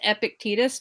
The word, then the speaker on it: Epictetus: epic titties titties that are epic actually it's pronounced Epictetus but I just like saying epic titties because